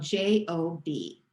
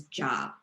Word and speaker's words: Job: job job is spelled j-o-b which most of us would pronounce as job but if you really want to show that you're smart about the bible you'll say job when you see that